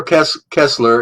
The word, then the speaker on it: Koestler: Arthur Kessler, it's spelled Koestler, Arthur, Arthur, Arthur Kessler, The 13th Tribe.